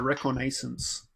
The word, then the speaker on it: reconnaissance: Shivan Reef, and I will play a Reconnaissance.